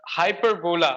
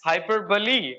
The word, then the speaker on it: hyperbole: will tell you a few words like uh hyperbola I used to call it but the pronunciation of that I came to know about that is hyperbole I was oh my God like I I